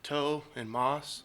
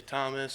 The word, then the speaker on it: Tomas: so we'll say well there's no h so it's just like toe and Moss some people say Thomas some people say like